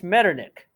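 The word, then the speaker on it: Metternich: were led led by prince medernick which is spelled m-e-t-t-e-r-n-i-c-h m-e-t-t-e-r-n-i-c-h he being a noble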